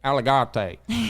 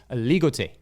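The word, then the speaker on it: Aligoté: Now, I had pronounced it cuz I'm a Texan. I had said alleg same my whole life until I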